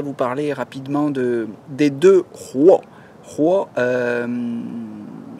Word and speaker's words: 活: Alors aujourd'hui, je voudrais vous parler rapidement des deux rois. Rois, vous entendez un R, mais c'est un H aspiré en chinois, ça s'écrit H-U-O.